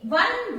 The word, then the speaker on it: one: Now, O sounds like W. A1. So here the sound of W comes and W is a consonant.